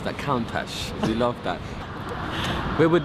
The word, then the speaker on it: Countach: Okay, we always pronounce it as Countach.